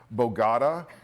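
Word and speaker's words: Bogotá: Yeah, and we stopped reading the script, and then we just started talking about stories and personal things, and she would mispronounce words like Bogota, and I was like, Bogota?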